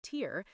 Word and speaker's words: Tyr: Tyr, pronounced like Tyr, is the god of honorable war, law, and sacrifice.